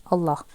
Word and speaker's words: Allah: comes in the word Allah so whenever you have got fat whenever you have got fatha Associated no like previous letter then the lamb is to be read pronounced heavily Allah okay if if that